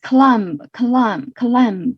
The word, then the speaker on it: climb: Such as climb 就是那个攀登的那个 climb，和 comb 好像 climb 的不也是不会发音吧？就是那个攀登啊，这个单词大家帮我 check 一下。还有这个梳子 comb 好像也是不会发音的。这个 B 字母 B 不发音的情况下是比较常见的。那这里的 B 没有发音。So that's it.